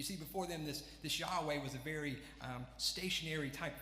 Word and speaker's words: Yahweh: to say it so this is this name Yahweh yeah we that's how we believe is supposed to be pronounced and you see that name obviously translated